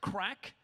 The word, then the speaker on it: craic: Irish Irish slang so a good Irish thing is craic no not cocaine it's spelled CRA IC so it's like the Irish spelling of craic but it means like